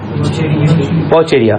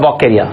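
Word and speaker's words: Vaucheria: Pronounce करेंगे, VAUCHERI है, वॉचेरिया। हम वॉचेरिया करते थे, सही था, लेकिन आजकल बोलता है वॉकेरिया।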